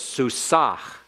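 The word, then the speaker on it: סוסה: And Ah, you have to pronounce the Ma-peak by putting some breath in that last hey. So it's Susah, Susah. Not as heavy as if it were a Chayth. It's not like a Chayth.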